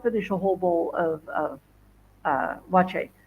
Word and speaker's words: Waakye: And when you see the word wache, it is spelled Waakye, and it's pronounced wache. So be aware of that. You're going to go wakie, wacky, wacky, wacky. No, wache.